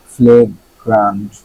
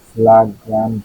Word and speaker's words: flagrant: ফ্লেগ্রান্ট, ফ্লাগ্রান্ট না ফ্লেগ্রান্ট? ফ্লেগ্রান্ট, ফ্লেগ্রান্ট, ফ্লেগ্রান্ট মানে অত্যন্ত স্পষ্ট, প্রকাশ্য বা জঘন্য।